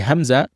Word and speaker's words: Hamzah: However, the Hamzah, it comes out straight away without any echoing.